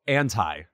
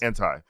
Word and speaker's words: Anti: it to appropriate or appropriate how do you pronounce Rihanna's album someone asked me this recently oh oh oh anti okay you're right yes it's anti uh someone was someone like a friend sent